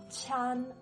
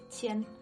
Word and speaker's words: 签: Next, qi plus i plus an makes 签, not 签, but 签.